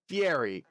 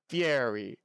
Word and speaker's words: Fieri: guy fieri i think fiery two syllables and that's how they say it in italian i think guy fieri fairy fairy i think that's